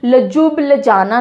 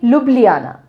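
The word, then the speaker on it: Ljubljana: बहुत interesting spelling है, pronounce कैसे करते हैं इसको, लजुब लजाना नहीं बोलते हैं, ओके, लुब्लियाना, जे साइलेंट, लुब्लियाना, लुब्लियाना।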